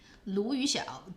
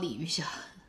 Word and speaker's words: Lu Yuxiao: Lu Yuxiao. Do you mean Lu Yuxiao, not Li Yuxiao? You're typing her name wrong.